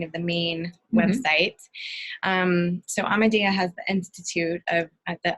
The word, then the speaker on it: Amadea: So you can find information there at Amadea. It's spelled just like it sounds.